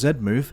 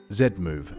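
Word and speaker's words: Z-Move: loves how I pronounce Zed move here it is again Zed move Zed Zed Zed a million times Zed I am NOT American I do not say Z I am English sorry anyways let's get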